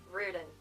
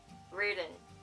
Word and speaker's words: Riordan: And so that's how we pronounce Riordan. Riordan. Riordan.